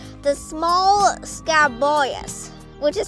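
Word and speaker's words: scabious: flowers right beside it is called the small scab boyus which is spelled s-c-a-b-i-o-u-s now if you come over here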